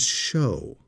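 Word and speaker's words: shew: Notice in verse 12, that word S-H-E-W is show. That's an old way to spell show, but it's pronounced show.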